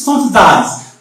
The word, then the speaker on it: standardized: Then after we have educational, the stress falls on Ka, it means CA. Why? Because also it is the anti-penultimate syllable. Then after the last word, it is standardized.